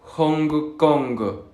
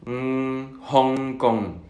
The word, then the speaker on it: Hong Kong: hablantes de lengua española tendemos a pronunciar la G Hong Kong. Sin embargo, no hay que pronunciar esa G. Al menos cuando veamos este símbolo no hay una G. Es únicamente Hong Kong, King Kong, Ping Pong, ngo.